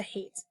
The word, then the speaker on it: hate: If you remember, that sneaky silent E makes the vowel in the middle say its long sound.